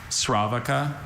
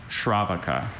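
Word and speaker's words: sravaka: Sravaca. Shravaka. Okay.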